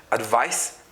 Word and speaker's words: advice: have advice and advisor the difference is just C and S so this is pronounced as s advice this is pronounced as